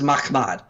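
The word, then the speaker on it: מחמד: This is Mahmad. You don't add an additional syllable in there to get Muhammad. Notice Mahmad is 2, Muhammad is 3.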